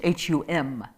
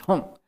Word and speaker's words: hung: it's spelled uh uh when we're pronouncing it hung but it's often seen as hum and i don't know the details of tibetan pronunciation but in what i've been shown and taught and the in terms of practice it's usually sounded as hong as if it were ng so um rinpoche has